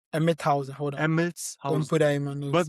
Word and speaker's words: Emmelshausen: It's called Emmelshausen. Emmelshausen. Emmethausen. Hold on. Let me Emmelshausen.